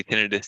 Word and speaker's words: tinnitus: story with tinnitus now you may pronounce it tinnitus but we usually say tinnitus here at Parable health